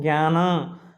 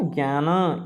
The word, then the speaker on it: ज्ञान: और ये ज्ञ किससे बना है, ज और ञ से बना है ना, ज्ञान, है ना, ज्ञान, इस तरह से इसका उच्चारण होगा, ज और ञ, ठीक है ना।